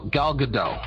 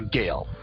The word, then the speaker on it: Gal Gadot: saw a story yesterday I keep pronouncing her name wrong the woman who the young lady who plays the Wonder Woman gal gal gadot I think that's her name is I keep calling her Gale I keep seeing an